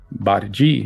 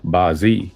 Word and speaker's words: Bazi: Bazi pronounced Baji in Cantonese and Bazi in Mandarin means eight characters.